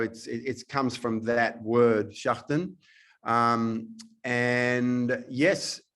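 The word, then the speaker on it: Schächten: And from Austria, I noticed a film called Schechten, a Retribution. Yeah. So so it's pronounced Schachten.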